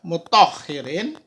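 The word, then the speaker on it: مطهّرين: Mut Ha mohiri mutahirin mutohhirin ini tasdid ya mutahhirin giru mutohirin dorof madrub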